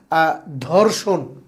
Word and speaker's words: ধর্ষণ: যেমন আমরা যদি বলি ধর্ষণ ধ এটা একটা মানে খুব শক্ত একটা উচ্চারণ। এটাকে যদি হালকা করে উচ্চারণ করা হয় তাহলে দর্শন হালকা।